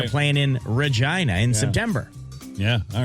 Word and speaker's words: Regina: because it was Rhymes Regina. with, Regina rhymes with fun, Yeah.